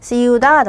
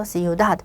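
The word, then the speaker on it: ciudad: 서 빠벨이 아니라 빠벨 요렇게 뒤쪽으로 와야 되고 프로페솔 때 프로솔은 마찬가지로 가장 끝에 엑센트가 와야 되고 see that 마찬가지죠. 해서 see that 여기에 강세를 줘서 발음을 해야 합니다.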